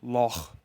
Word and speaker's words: loch: This last sound is very rare in English. It is almost exclusively found in Scottish English when pronouncing words like loch. It is a gravelly sound produced at the back of your throat.